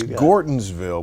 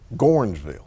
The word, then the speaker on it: Gordonsville: It's Gordonsville, but you have to say it Gornsville. Yeah, you got to put Gorn on the front end.